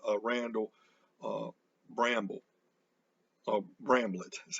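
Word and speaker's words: Bramblett: my favorites nasa uh randall uh bramble of bramblet that's how you say his name who works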